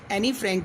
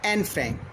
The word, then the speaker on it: Anne: ये एनी फ्रैंक की diary से लिया गया है और written by एन फ्रैंक, नॉट एनी फ्रैंक, एन फ्रैंक, because E is silent hair.